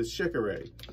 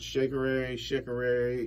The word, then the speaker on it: Shekere: This is the Shekere. Some people pronounce it Shekere.